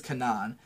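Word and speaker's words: Canaan: girl named Kanan, and I'm gonna pronounce it that way because that's how they fucking say her name in the show. I know it's like a different word, but her name is Kanan, and she's like a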